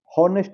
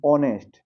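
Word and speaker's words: honest: इसको क्या पढ़ेंगे कॉम हॉनेस्ट नहीं ऑनेस्ट एच साइलेंट है यहां पे पढ़ेंगे क्या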